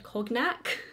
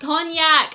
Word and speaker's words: cognac: many people came at me when I said coke Mac but it's pronounced cognac oh my god anyway I'm gonna go ahead